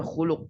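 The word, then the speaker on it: خلق: W Iya betul ya itu bacanya khuluk ya khuluk Nah kalau tidak dikasih harakat kita bisa tertukar nanti dengan kata kerja khalaq nah atau bisa dengan Isim juga khquun ya lamnya diukun Nah ini banyak nih e cara bacanya kalau enggak dikasih harakat khuluk ya khuluk itu lamnya domahnya domah Nam ya itu artinya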